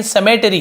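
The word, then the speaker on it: cemetery: सेमेट्री ऐसे पढ़ेंगे लेकिन समेटरी ऐसे होता है, समेटरी। समेटरी का मतलब क्या होता है, सीई का सा, सीई या सी वाई या सीई हो तो सी का क नहीं होता, सा उच्चारण होता है।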